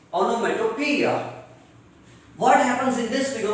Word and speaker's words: onomatopoeia: Otherwise, the correct pronunciation is onomatopoeia.